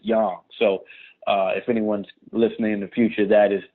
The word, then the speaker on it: Yang: most people pronounce it yang but to check the agents themselves the Chinese themselves always pronounce it young so if anyone's listening